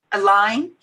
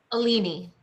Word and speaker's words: Aline: I'm sorry, I thought it was it's Aline. Is your name? Alini. Alini, thank you.